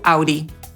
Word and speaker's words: Audi: Wyjątkowo prostą w wymowie nazwą jest Audi, ponieważ, o dziwo, mówimy po prostu /ˈaʊdiː/.